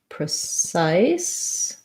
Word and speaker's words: precise: precise and precisely um second syllable stress on both of these words and so your cif syllable sounds like size size um it sounds like the word ice so if that if you can say i sat might help you ice size precise the pre sounds like pra because it's a um